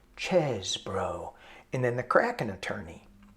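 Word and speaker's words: Chesebro: They go, yeah, we finally figured out how to pronounce his name. Chesbro.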